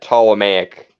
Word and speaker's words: Ptolemaic: that's a remake uh ptolemaic the p is silent right like it's tall